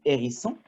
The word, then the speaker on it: hérisson: Par exemple, hérisson, c'est un hérisson. C'est un H aspiré.